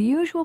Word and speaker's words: usual: can you hear it the usual place for stress in a l words is two syllables before the a-l ending listen medial radical economical